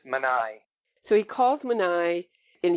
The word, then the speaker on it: Manny: Right after he calls Manny Trifari, is that how you pronounce his name? I believe it's Manai.